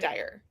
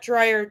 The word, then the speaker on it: Dyer: Dr. Dwayne Dyer, right? Dyer. Dire. Yes. Not Derer. Dyer. What was I? I was I was saying it wrong, too. Activated the YouTube comments now, right? Yeah. We love It's It's dire, not drier. You know, it's not like a dryer in your house.